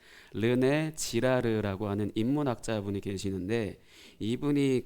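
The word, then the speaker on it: 르네 지라르: 않으실 아실 것 같은데 르네 지르라는 분이 있어요 르네지라르 발음 잘해 이름 잘못 말하면 욕한게 되거든 르네 지르라고 하는 인문학자 분이 계시는데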